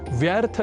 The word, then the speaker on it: व्यर्थ: है इस सिद्धांत का अनुप्रयोग नहीं होता जैसे व्यर्थ या व्यर्थ और वैयम आदि शब्दों को व्यर्थ